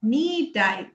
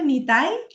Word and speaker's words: নিতাই: মানে টাইটা ধরে হ্যা নিটাই নিতাই নিটাই নিই উচ্চারণটা নিতাই আর হচ্ছে নিমাই ঠিক আছে গুরু মাঝে সবসময় কনসেন্ট্রেশন হচ্ছে আমি কিভাবে কৃষ্ণকে দিব।